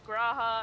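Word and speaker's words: G'raha: back and forth with me saying, no, it's Graha, and here's why, and Mao being like, no, that's impossible.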